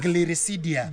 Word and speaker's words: Gliricidia: So somebody can just Google as I'm pronouncing it, Yes. Gliricidia.